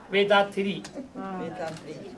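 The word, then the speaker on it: Vethathiri: Vedathiri.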